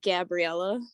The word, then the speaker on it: Gabriella: I just, A's are not like, I just say hard A's. Is that how you say it? With like a hard A? Yeah, it's Gabriella.